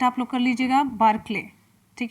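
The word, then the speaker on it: Barclay: तो Greg बार्कले लिख देते हैं इंग्लिश में भी, करेक्ट प्रोनाउंसिएट आप लोग कर लीजिएगा, बार्कले।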